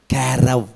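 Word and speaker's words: קֶרֶב: அதை எப்படி பேசுவாங்க அங்கே, எப்படி சொல்லுவாங்கன்னா குடலை எப்படின்னு சொல்லுவாங்க? கேரவ் அப்படின்னு சொல்லுவாங்க. சிறுநீரத்தை கிளையா, கல்லீரல் என்ன சொல்லுவாங்க? கேவிட்.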